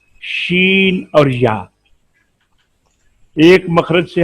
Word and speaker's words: شین: جی شین pronounced as شین using middle of tongue to touch the middle part of palates.